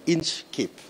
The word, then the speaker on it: Inchcape: really butcher the name it's actually inch cape yeah inch like the distance and keep like a hat so inscape yeah so